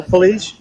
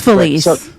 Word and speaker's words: Felice: So Felicia, it's Felicia. I'm gonna I'm gonna I'm gonna My name is Feliz.